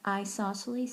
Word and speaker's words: isosceles: have two eyes and isosceles sounds like the word eyes and that's how I